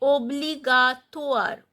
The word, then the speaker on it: obligatoire: A public, gratuit, free, a obligatoire. OI sound is OA. Obligatoire.